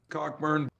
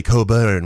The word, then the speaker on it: Cockburn: I'd just be I'd be I know the silent. Yeah. Cockburn. It's actually Coburn where he's from.